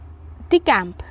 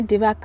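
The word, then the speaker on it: decamp: next one इज डीकैंप डि कैंप माफ कीजिएगा यहां पर जो इसका प्रोनंसिएशन है वो गलत मेंशन किया हुआ है इसको डीकैंप पढ़ेंगे डिवाक नहीं पढ़ेंगे ठीक है मिस्टेक गलती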